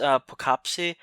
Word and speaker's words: Poughkeepsie: movie somewhat one own and I believe the pronunciation is perkupp see the CAPTCHA tips from 2007 so the guy